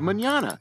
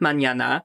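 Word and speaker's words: mañana: spanish word for tomorrow forgot the tilde it's a symbol you put over the end to change the pronunciation without it the word would be said incorrectly as banana instead of manana fred still manages to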